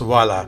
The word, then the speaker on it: Hvala: Hvala, but it's pronounced Vala.